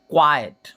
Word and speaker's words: quiet: का यूज करते हैं, इसे क्या पढ़ते हैं, क्वाइट। और इसकी स्पेलिंग में जो ई देखो, ऊपर वाले में ई टी के बाद है, इसमें ई टी के पहले है, QUIET।